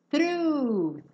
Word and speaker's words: through: Through. Through. Não se preocupem com esse GH no final, tá? Ele é mudo.